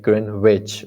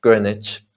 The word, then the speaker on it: Greenwich: is no w like green witch or something there is no that's right gren niche greenwich greenwich mean time right this is also a silent w word is to say like